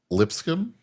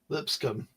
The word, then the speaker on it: Lipscomb: Lipscomb, Lipscomb. Yep. which I don't even know where that school is. So In Nashville, Tennessee. okay. It's just the B is silent, and people can have